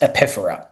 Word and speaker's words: epiphora: It's called epiphora. It looks like it's spelled epiphora, pronounced epiphora.